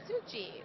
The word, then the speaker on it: Sukhjit: Spell that, Sukhjit. I was going to too. Sukhgit. No. Sukhjit. I thought I was saying J, but the G came out.